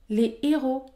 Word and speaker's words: héros: est interdite ou encore les héros les héros la liaison est interdite car le mot héros débute par un h aspiré la liaison est également